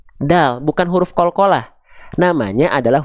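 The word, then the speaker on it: دال: yang saya kasih tanda dan menjadi huruf terakhir di ayat ketiga surah al-ikhlas namanya adalah huruf bukan bukan huruf da bukan huruf da nama huruf ini adalah huruf Dal bukan huruf Qalqalah namanya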